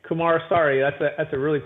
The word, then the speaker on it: Kumarasamy: would find me absolutely kamara sorry but that's actually not so hard if you actually just just slow down and just say it right kumar sorry that's a that's a